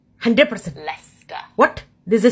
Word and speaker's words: Leicester: Leicester, 100%. Leicester.